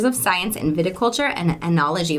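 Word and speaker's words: oenology: Science in viticulture and anology am I pronouncing anology right that's right awesome she has been learning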